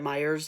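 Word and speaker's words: Meijer: then I will do Myers and to uh Target so Salem's Lot uh so where I'm from we have Myers even though it's spelled Meer but everybody calls it Myers um um but yeah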